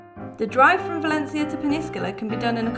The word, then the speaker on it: Peñíscola: Here we are in sunny Peñíscola. Oh, is that how you say it? Yeah, the accents are pretty important in this word.